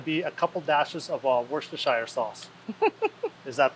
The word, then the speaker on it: Worcestershire: it's going to be a couple dashes of Worcestershire sauce is that pronounced right yep you said that one right